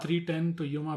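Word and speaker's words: 3:10 to Yuma: And 310 is like the clock. So it's called 310 to Yuma because the train that goes to Yuma arrives at 3 o'clock.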